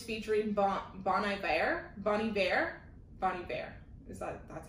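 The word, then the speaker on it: Bon Iver: betty exile is featuring bonnie bear bonnie bear bonnie bear that's how you say his name and it's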